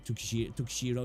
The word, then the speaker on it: Tsukishiro: How is it pronounced? Is it Tsukishiro? Tukishiro, yeah.